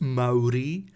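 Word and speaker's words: Māori: they are warriors actually you would find that it's pronounced maori I'm sorry honestly that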